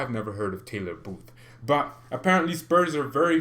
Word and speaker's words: Taylor Booth: so that's why i've never heard of taylor booth but apparently spurs are very very interested in